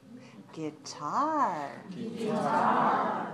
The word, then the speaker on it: guitar: is playing a guitar watch me guitar guitar two syllables stress the second two two and in